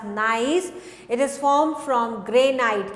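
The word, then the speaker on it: gneiss: type of मेटमोरफिक rock is nice so we pronounced it as nice it is formed from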